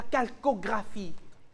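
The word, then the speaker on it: Chalcographie: ça se dit félic comment cuivré non la Calcographie ça s'écrit C H a L C o g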